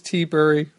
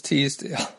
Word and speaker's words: Teabury: It's Mrs. Teabury, not Mrs. Teasdale.